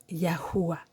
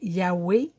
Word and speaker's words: Yahuwah: le Wow, le Ha, qui se prononce Yahuwah. Certains vont dire Yahweh, mais ça fait un non-sens, parce qu'on a deux fois la même lettre. Pourquoi une fois on prononcerait Ha et l'autre fois on prononcerait E? Moi, quand ça ne fait pas de sens, ça ne fait pas de sens.